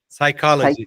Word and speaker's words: psychology: ajuda bastante ajuda psychology lembra que não tem o p psychology py pago le Break